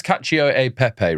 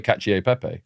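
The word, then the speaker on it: cacio e pepe: But I don't know if that's Well, it's it's Kacio a pepe, right? I've like I've like missed out a syllable. Yeah. You say kacier pepe.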